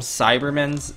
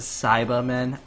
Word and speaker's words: Cyberman: uh Cyberman Cyberman yes people get mad that I call them cyber's and it's a Cyberman I just pronounce it weird I know just don't